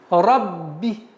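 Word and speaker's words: ربِّ: Сперва удваиваем, а потом касру. Рабби. Рабби.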